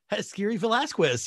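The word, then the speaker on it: Haskiri Velazquez: That is Jaskiri Velasquez? Jaskiri Velasquez, yes.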